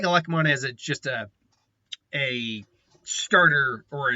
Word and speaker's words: Elecmon: So the first up for his partner is Violet Elecmon, specifically Violet Elecmon, or Lekimon, I believe that's his actual pronunciation. No, it's just Elecmon.